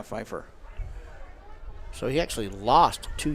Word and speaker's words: Fifer: on that reception Sage Piper yep no that was yes you're right it's spelled weird it's not with a p it's with an F EJ f a r fer yeah Fifer so he actually lost